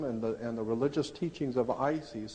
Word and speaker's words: Isis: Isis was a feminine principle of wisdom in Egypt. It's spelled I-S-I-S, Isis.